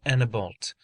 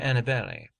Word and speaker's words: Annebault: He bore the name of Monsieur de Annebault, which in our tongue is Monseigneur de Annibale, but the French pronounce it so that they usually made it sound like Monseigneur Assino Biot.